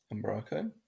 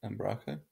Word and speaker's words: Umbraco: First of all, there are a few ways of pronouncing it. Umbraco or Umbraco. I'll be pronouncing it Umbraco, as it's my preferred way of pronouncing it. But in case you get confused, different people in the community pronounce it differently.